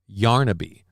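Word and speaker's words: Yarnaby: Uh it's actually pronounced Yarnabe.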